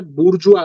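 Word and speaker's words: bourgeois: पूंजीपति यानी जिसको हम एक टर्म यूज होता है बुर्जुआ बोलते हैं क्या बोलते हैं बुर्जुआ इसकी स्पेलिंग अलग है लेकिन बोलते इसको बुर्जुआ है ठीक है यह होती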